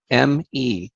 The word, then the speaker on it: me: In the Sumerian epics, the Anunnaki have something called the Me, M-E, but it's pronounced Me, okay?